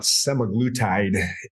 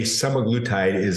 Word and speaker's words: semaglutide: So in summary, semaglutide it's pronounced different ways. That's how I've been pronouncing it, semaglutide.